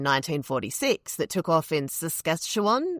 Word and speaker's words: Saskatchewan: that took off in Saskatchewan. Is that how you say it? Saskatchewan. Yeah. In Canada.